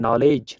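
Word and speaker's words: knowledge: फिर यहाँ पे डी साइलेंट है ना, किस वर्ड में डी साइलेंट रहता है? नॉलेज, नॉलेज है ना।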